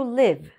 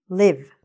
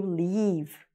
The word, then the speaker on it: live: Okay, this is the short I sound. So, for example, if you ask someone a very common question, where do you live? Where do you live? But if you don't pronounce it properly, it will sound like where do you leave? And where, leave, doesn't make sense.